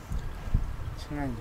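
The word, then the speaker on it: ឆ្ងាញ់: Chingan. Chingan. Chingan. Chingan. Chingan. Chingan. Chingan. Chingan. Chingan. Chingan. Chingan. Chingan. Chingan. Chingan. Chingan. Chingan. Chingan. Chingan. Chingan. Chingan. Chingan. Chingan. Chingan. Chingan. Chingan. Chingan. Chingan.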